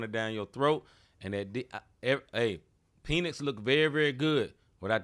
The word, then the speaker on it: Penix: And Penix looked very, very good without that pressure on.